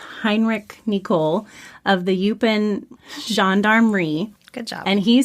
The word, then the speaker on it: gendarmerie: Belgian Air Force and the gendarmerie is how it's pronounced.